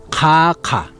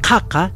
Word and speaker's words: Titicaca: Caca, porque en lo que es el idioma aymara quechua, nosotros utilizamos lo que es las pronunciaciones ka, ka, ka. Entonces, en este caso, ka, ka, ¿ya?